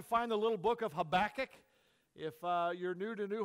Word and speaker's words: Habakkuk: some places they say Habakkuk okay I don't want to be called a kook I don't think he would either so I prefer the pronunciation of Habakkuk all right however you